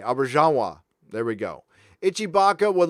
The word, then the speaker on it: Auberjonois: Auberjonois. Thank you. Think French when pronouncing the J. Auberjonois.